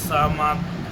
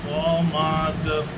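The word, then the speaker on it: صمد: আল্লাহুস সামাদ সম্পূর্ণ ভুল বন্ধুগণ। আল্লাহুস সামাদ নয়, আল্লাহুস সামাদ। সামাদ, সাদ সাদ সাদ সাদ সাদ। আল্লাহুস সামাদ। সাদ উচ্চারণটা আপনাকে এখানে আনতে হবে।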